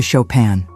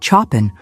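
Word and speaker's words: Chopin: cards because he had a prior commitment to Shopan. The fact that he pronounced it chapen only added to the general amazement.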